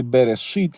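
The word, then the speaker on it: בראשית: Тому алеф у слові берешит є прихований, не читається.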